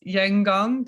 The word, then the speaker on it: Yangon: You grew up in the capital city of Myanmar, now known as Yangon. Did I pronounce that correctly?